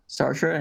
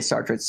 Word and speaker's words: Sartre: enjoy that's pretty good you're John sart's yep Sartre and I say star traits it but your pronunciation is correct and camu and I